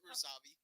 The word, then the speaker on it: Razavi: It's Razavi.